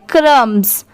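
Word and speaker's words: crumbs: ये है क्रम्स, CRUM इतना क्या हो गया क्रम्ब और BS बस की साउंड आएगी, पूरा क्या हो जाएगा क्रम्स क्रम्स।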